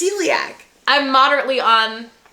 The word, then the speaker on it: celiac: life who has celiac, I've definitely been saying celiac this whole time. No, you have. You're saying it wrong. But celiac. Celiac. Celiac. Celiac. Yeah. Celiac. Celiac.